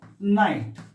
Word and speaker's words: knight: take an example of knight not like night here k n i g h t we are not pronouncing the letter k take another example k